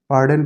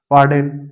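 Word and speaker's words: pardon: নিজের বাসস্থানের নাম তাহলে বুঝা গেলে এটাকে বলবে বার্ডেন প্লিজ বার্ডেন এটার উচ্চারণ হবে হবে পার্ডেন আর এটা হচ্ছে রিপিট রিপিট প্লিজ এটা বলে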